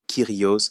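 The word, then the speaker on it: Κύριος: Il ne l'appelait que Dieu Père ou Seigneur, ce qui se prononce Kyrios en grec koiné.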